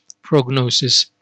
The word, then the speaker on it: prognosis: so this is the difference between diagnosis and prognosis let's see the definition now sorry not the definition the pronunciation diagnosis diagnosis diagnosis prognosis prognosis prognosis now